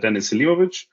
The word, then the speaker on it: Denis Selimovic: introduction of myself uh my name is Dennis simovich and Michael you pronounced it absolutely great uh this was nearly perfect um I work as